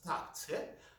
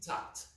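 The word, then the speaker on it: Takt: piece flow the thought strategy is known as tax this is spelt t-a-k-t tat this is the update of the lynn system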